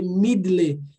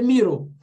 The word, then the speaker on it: middle: Não é porque tem esse D-D-L-E é que vai ser the middle. É the middle.